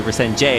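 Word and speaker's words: Resende: Also, if you have a DE at the end of your name, you pronounce it like a J. That's why we say Resenge instead of Day.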